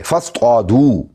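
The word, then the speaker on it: فاصطادوا: तो आप शिकार करें फस दू पस तुम शिकार करो फस दू फा है और फिर उसके बाद अलिफ है लेकिन अलिफ साइलेंट है पढ़ा नहीं जाएगा फिर दद है फिर त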